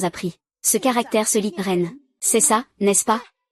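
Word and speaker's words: 人: Ce caractère se lit Ren, c'est ça, n'est-ce pas ?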